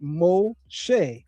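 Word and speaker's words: מֹשֶׁה: And the shin dot on top of the right leg of the shin making it sh instead of s as well as a seigle vowel. Three dots under the shin making an e sound. So in pronouncing it we get mosh or mosh.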